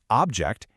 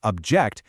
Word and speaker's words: object: If you stress the first syllable, object, it's a noun, a thing. But if you stress the second syllable, object, it becomes a verb meaning to oppose.